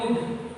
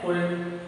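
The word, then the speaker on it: could: अब इसको बोलते हैं कुड। क्या बोलते हैं? कुड। कुछ बच्चे से क्या उसका प्रोनाउंसिएशन करते हैं कुड।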